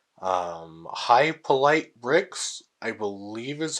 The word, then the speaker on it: Hypolite Bricks: a YouTuber called um High polite bricks I believe is how